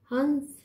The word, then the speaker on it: हंस: मैं लिख रही हंस हंस तो जब बिंदी ऊपर लग गई अनुस्वार ऊपर लग गया तो उसका उच्चारण जो है नाक से हो रहा है हंस कैसे लिख